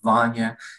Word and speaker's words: Vanya: for having me again my name is vanya it rhymes with lasagna and i am a